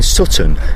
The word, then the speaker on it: Sutton: But in Sutton, if you pronounce the T, apparently it makes you sound much smarter.